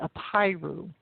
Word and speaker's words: Apiru: And that word was the Apiru. And I'll spell that. It's A-P like Paul, I-R-U, the Apiru.